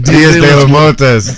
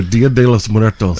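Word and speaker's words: Día de los Muertos: Diaz de los Muertos. No, Dia de los Muertos.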